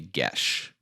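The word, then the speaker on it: geas: i finally learned yes it looks like gay ass or something like that but it's get it's well no it's apparently like irish or something danny exactly yeah exactly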